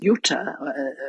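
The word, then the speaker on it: Jutta: daughter her name is Uta that's the German pronunciation it's spelled j u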